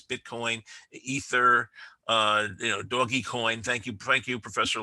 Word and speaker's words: Dogecoin: I'm a fan of medieval history, so I would call it Dogecoin after the rulers of medieval Venice were called DOA. D O G-es.